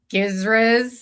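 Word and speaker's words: GISRS: So every year the um the the GIS Giz um I like to pronounce that one with a hard G.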